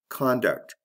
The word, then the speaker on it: conduct: Conduct, conduct. Did you hear that? There's a difference in the vowel in the first syllable. Con and cun.